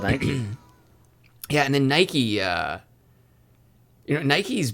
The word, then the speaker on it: Nike: The Nike Swish.